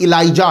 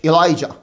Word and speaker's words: Elijah: Bible में इलियास अलैहिस्सलाम का नाम इलाइजा है, ELIJAH, इलाइजा, और इलिया भी बोलते हैं।